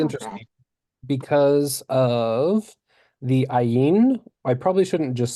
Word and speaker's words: Ayin: Ayin is silent.